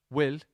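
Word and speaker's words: bhfuil: Lake um and then will which is spelled b-h-f-u-i-l will that's how we'd say um that's how we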